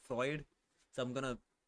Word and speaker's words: Freud: pay is segment fruit. I'm pretty sure that's not how you say his name, but it pisses off Jazuma whenever I say fruit instead of Freud.